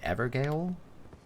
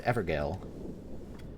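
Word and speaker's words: Evergaol: What is the Cuckoo's Evergale? Actually, I think it's pronounced jail.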